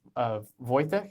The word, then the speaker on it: Wojciech: And we have Matt, Radek, and Wojciech, if I recall correctly, the pronunciation. Correct. Yes, Yeah.